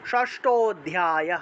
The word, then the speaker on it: ষষ্ঠ অধ্যায়: ষষ্ঠ অধ্যায় ষষ্ঠ অধ্যায় এই যে ষষ্ঠ এবং অধ্যায় একসাথে উচ্চারণ করতে হবে ষষ্ঠ অধ্যায় এভাবে উচ্চারণ করতে হবে